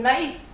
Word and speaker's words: maïs: The first way is pronounced as I, like that, like in maïs.